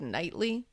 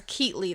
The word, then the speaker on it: Keatley: Um it's Dr. Alan Keatley. I think I said like nightly. Oh, cuz words are hard. It's Keately though, I believe.